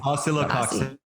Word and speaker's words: Oscillococcinum: Acecilium. Okay, close. Ron. Acecilium. Oh, well. You copied me. Okay. Yeah. How do you pronounce it? It's oscillococcinum. Oh. Oscillococcinum? Yeah. Oh, okay. We get the cox in there.